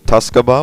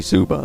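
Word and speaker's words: Tsukuba: Most people pronounce it Tuscaba, which is incorrect. It's actually Suba. They just, you don't pronounce the T and the K.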